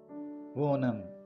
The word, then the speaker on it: Onam: this is how we pronounce the name wam wam wam the traditional white wam SAR pum